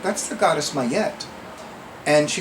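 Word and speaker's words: Ma'at: it in good authority that her name is pronounced my yet because several years ago when i was at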